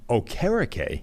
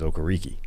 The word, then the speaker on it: Okereke: Bobby Okereke, apparently. Even though on the intros, which are recorded in the preseason, he says Okereke. Yeah, so Okereke is now going by Okereke.